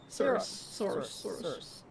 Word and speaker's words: Saris: Soros. Is it Saris or is it someone else? Let me look. Saris, you just said it right.